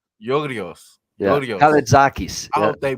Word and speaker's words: Georgios: It's Georgios. Georgios.